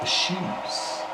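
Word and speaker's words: eschew: lactose so it deliberately avoids lactose and it's pronounced isues and it looks like ASU e s c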